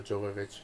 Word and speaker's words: Jovovich: And, just movies with Mila Jovovich and Demi Moore. And say her name right? Who? Mila Say her Jovovich? name. There you go. Yeah, the J is a Y.